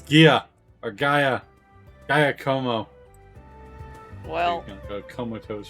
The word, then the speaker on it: Giacomo: It's actually Giacomo.